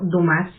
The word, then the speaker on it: Dumas: hablar de su autor Alejandro dumas o Alejandro dumas también así se pronunciaría su apellido correctamente en francés este personaje que nació